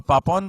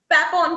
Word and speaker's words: Papon: और पापौन बस सना जैसे है वैसे ही पॉपुलर, एक हमारी कहानी सेम है आपकी मेरी। तो ऐसे बहुत लोग भी हैं जो पैप ऑन कहते हैं, है ना?